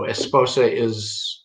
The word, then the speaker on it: esposa: So we spelled out in an English E-H-S, P-O-H-S-A-H, and we put the emphasized, the stressed syllable we put in all capital letters. So esposa it's not that hard.